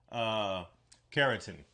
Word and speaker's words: Carentan: I'm just trying to see, is that how you actually pronounce it? Carentan. It's kind of pronounced Carentan.